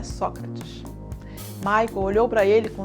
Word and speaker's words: Sócrates: de lado ele disse olha pronúncia certa é Sócrates Mike olhou para ele